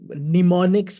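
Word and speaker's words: mnemonics: Because उसके अंदर कुछ ऐसी टर्म्स और निमोनिक्स कहते हैं उसको, एम एन, ये नहीं, वो एम पहला साइलेंट है, निमोनिक्स यूज किए जाते हैं।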